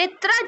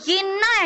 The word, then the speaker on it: येन्ना: उसके बाद देखिए येत्रा जलप्रपात, ये कहाँ पे है? ये महाराष्ट्र के महाबलेश्वर में है। ठीक है, उसके बाद ये येन्ना एक्चुअली इसको बोला जाएगा, येन्ना। ठीक है, प्रोनाउंसिएशन ये होगी। फिर मेघदातु जलप्रपात, तो ये कहाँ पे है?